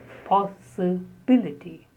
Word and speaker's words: possibility: The next word is possibility, possibility. The stress is on B, like the word ability, probability, advisability. So in such words, B is stressed.